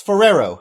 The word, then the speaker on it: Ferrero: there's too many RS in there ferero it's Ferrero it's a person's name pronounce it French likee I'm going to spell